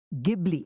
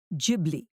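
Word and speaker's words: Ghibli: Italian it is pronounced gibli with a hard G in Japanese the G is soft jibli either way the profusion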